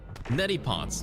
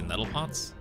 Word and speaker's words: neti pot: Neti pots. What did I say? Nettle pots? Close enough. Nettle pot, neti pot, close enough. Well, there's like an extra syllable in there, but you know what I meant.